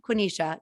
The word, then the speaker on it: Quenisha: and he started and i was just like quinnisha quinisha yes we also call her it's okay